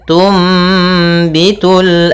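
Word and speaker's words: تنبت: sukun bertemu dengan ba Apabila ada nun sukun bertemu dengan huruf ba ya maka kita namakan dengan iqlab yaitu cara membacanya adalah suara nunnya diganti dengan suara mim maka di sini ditandai dengan mim kecil Tum ya dimatikan sambil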